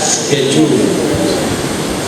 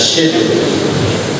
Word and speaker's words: schedule: keep to those words otherwise they will not be pronouncing as c h e d u l e as schedule the British pronoun that was shed and then when the